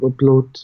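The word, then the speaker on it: blót: So I was reading that there are rituals like during services, and I may mispronounce the word, but is it bloats? Bloat, yes.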